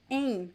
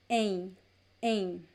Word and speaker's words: em: if there were two aim it is a nasal sound there is no m and no n sound it's just a nasal sound so this opposition is